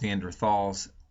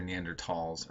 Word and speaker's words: Neanderthal: They're sometimes pronounced Neanderthals. It's more precise because it's an area in Germany where they found them, and they don't pronounce the th. So you'll sometimes hear Neanderthals or Neanderthals.